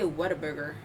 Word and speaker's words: Whataburger: Wait, how do you spell it? Because someone said. WHAT what dash a dash burger. Okay. What a burger. That's what I thought.